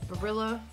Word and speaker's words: Barilla: Then we have these Barilla, yeah, that's how you say it.